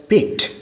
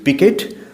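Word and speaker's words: piqued: Our friend felt পিকড। আমাদের এই যে বন্ধু বলতেই অ্যাস্ট্রোলজার, সে একটু বিরক্তি বোধ করলো। দেখো, এখানে তোমরা পিকেড দুটোই উচ্চারণ করতে পারো। পিকড হচ্ছে ব্রিটিশ প্রনাউন্সিয়েশন, আর পিকেড আমেরিকান।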